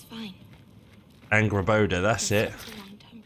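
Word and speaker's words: Angrboda: I forgot how to pronounce her name. At least Angraboda. It's fine. Angraboda, that's it.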